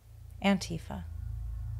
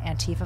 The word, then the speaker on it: Antifa: Antifa. What is it? Why is it so terrifying? How is it pronounced? Is the emphasis on E-fa or Ant-tif-a?